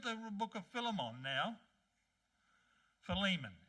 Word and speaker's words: Philemon: Philemon, actually, is the right way to say the word.